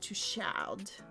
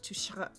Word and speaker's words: Touchard: LaRue is going to get a fancy room, and he books it under Jacques Touchard. That's not how you say it. Touchard. It's French.